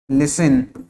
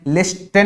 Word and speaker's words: listen: यहाँ पे क्या भाई, टी साइलेंट है ना, LISTEN। स्पेलिंग क्या है, LISTEN, LISTEN, है ना। लेकिन इसको प्रोनाउंस कैसे कर रहे हैं, लिसन, है ना, LISTEN, लिस्टन नहीं बोल रहे हैं ना, लिस्टन, लिस्टन तो नहीं बोल रहे हैं, क्या बोल रहे हैं, लिसन। मतलब यहाँ पे ये जो टी है ये कैसा है, साइलेंट है, इसको प्रोनाउंस नहीं करेंगे, क्यों, क्योंकि यहाँ पे कैसा है, साइलेंट है।